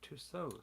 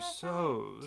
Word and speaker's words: Tussauds: Tussauds. Tussauds. I Not know. Someone corrected Tussauds. me on that because Yeah. I kept saying Tussauds. and It's almost like you that don't line pronounce the D.